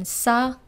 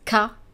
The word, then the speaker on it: ça: Do not forget the cédille below the C here in ça and façon, otherwise you would be pronouncing those words as ka and facon.